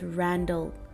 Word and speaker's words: Randal: Notice that the last word of the poem is sandal, and this final word rhymes with Randall, thus linking the man's name, Felix Randall, with his profession of fitting horses' sandals or shoes.